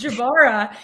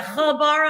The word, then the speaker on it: Jabara: a soft j oh my last name is jabara and people have a hard time pronouncing that too that's a hard j but like people like do i pronounce the b do i is it j silent is it jarrow is it habara i'm like but like